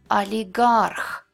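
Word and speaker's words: олигарх: When it's unstressed at the beginning of the word or right before the stressed syllable, it's pronounced like A. Oligarch, Moskva.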